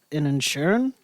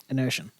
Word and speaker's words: Inisherin: So the nominees for this one was All Quiet on the Western Front, Babylon, The Banshees of Inisherin. Is that how you say it? Inisherin.